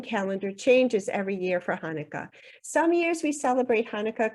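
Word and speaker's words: חנוכה: Hanukkah itself means dedication and I'm going to pronounce it for you in Hebrew it's might want to try that Hanukkah Hanukkah first celebrated in 165 BCE is also known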